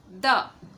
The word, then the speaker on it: the: तो कॉन्सोनेंट से जब कोई वर्ड शुरू होता है तो हम हमेशा इसे प्रोनाउंस करते हैं द। ठीक है, अगर यही कोई वर्ड रहता और वॉवेल से होता शुरू तो उसे हम पढ़ते दी।